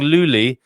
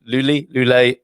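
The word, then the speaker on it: Loulé: And I've been saying Luli. I think it might be Lule. I'm not sure. I'm really, you know what, sometimes when you get a pronunciation in your mind and you're really not sure, whether you've got it right and you're kind of habituated to say it wrongly. Lule, beautiful. Anyway, a lovely town down there in the Algarve.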